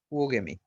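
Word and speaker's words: oogamy: হেটেরোগ্যামি বা উওগেমি, এটাকে এইভাবে উচ্চারণ করবা, উও, প্রথমে একটা উ তারপর ও, উওগেমি।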